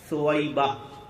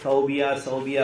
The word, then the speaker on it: ثویبہ: لہب کی لونڈی ثویبہ، ثویبہ، بہت سارے صوبیہ بولتے، بہرحال اس کے تلفظ میں تھوڑا سا دو طریقے سے بھی لکھا ہوا ہونے کی وجہ سے لوگ آگے پیچھے کر دیتے ہیں، لیکن ثویبہ نے آپ